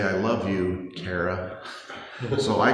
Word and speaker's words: Tara: My wife's name is, speaking of Ireland, T-A-R-A. And how do you pronounce T-A-R-A in Ireland? Tara.